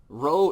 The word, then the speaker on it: rho: be the letter rho rho is said like an english r a rat or